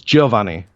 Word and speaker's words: Giovanni: It's Giovanni, so the J and O is like way more like pronounced, but he's still JoJo.